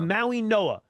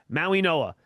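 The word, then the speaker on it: Mauigoa: Even though fans out there see the G, it's pronounced like an N. Why? I have no idea, but it is Maui Noah.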